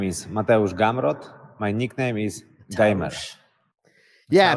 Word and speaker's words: Gamrot: hear gamrat gamrat um as long as we're emphasizing that first syllable i think i mean